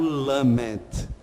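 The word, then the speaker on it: למד: Essa é a maneira oriental, a maneira semita, de pronunciar o lamed. Lamed, então, é esta letra que tem este som. Pode ser feito assim, né? Pode ser feito assim. Opa! Ele tem este formato e a pronúncia dele é esse L bem marcado.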